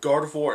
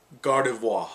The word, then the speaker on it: Gardevoir: though well i knew god of war and gallagher both do well excuse me let me give it the correct pronunciation gardevoir there we go and